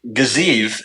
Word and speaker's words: Gaziev: Eventually, Gaziev is how it's pronounced, not Gaziev.